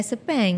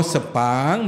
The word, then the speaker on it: Sepang: pun salah juga betul memang pronunciation dia adalah sepeng no Sepang Melayu Sepang tu Melayu ya that's the problem